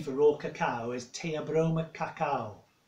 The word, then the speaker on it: Theobroma: Now, the scientific name for raw cacao is Theobroma cacao. It's spelled Theo as in Theo, Broma, cacao. Theobroma in Greek means food of the gods.